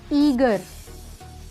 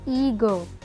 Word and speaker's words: eager: EAGER, ईगर। अब देखिए लोग इसे ऐसे बोलते हैं, विच इज़ इनकरेक्ट, क्योंकि आर तो साइलेंट होता है लास्ट वाला, तो ईगर, ईगर, नॉट ईगर, ठीक है।